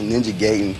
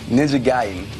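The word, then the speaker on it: Ninja Gaiden: be pronouncing it WR I thought it was Ninja gayon but ninja giden it's like one of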